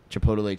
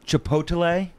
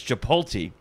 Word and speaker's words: chipotle: i don't believe it chipotle yeah like it's odelai at the end that's how i'm saying it chipotle no the mispronunciation is chipolte is it it sure is let me get a